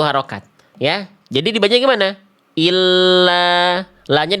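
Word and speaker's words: إلّا: Dibacanya gini, ila, ila. Kalau ada tasdid, illa, illa, illa.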